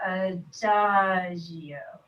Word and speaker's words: adagio: Remember adagio? This is another question that I asked what it means. It'll help if I say it like this, like adagio.